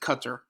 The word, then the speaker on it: Qatar: people think it's pronounced guitar but it's actually pronounced qatar and so the first three beliefs are known